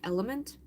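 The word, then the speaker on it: LMNT: It's It's pronounced like element. It's L M N T.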